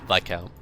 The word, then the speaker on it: Viscount: I know it's Viscount. I know that's the correct pronunciation, etc.